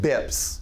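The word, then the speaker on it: bps: On the west coast of the United States, they call them beeps. We call them bips, or basis points, which is spelled this way.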